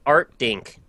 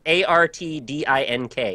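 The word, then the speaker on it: Artdink: again uh so Playstation One game developed by Art dink anybody ever heard of them what art say it again spell it art a r t d i n k art dink art dink uh published by Art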